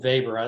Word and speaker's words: Weber: I pronounce it Weber. That's the way I was taught.